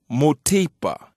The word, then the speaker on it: mutipa: Now in chima this word would be pronounced mutipa.